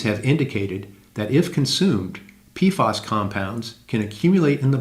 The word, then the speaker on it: PFAS: per- and polyfluoroalkyl substances, or PFAS, pronounced PFAS.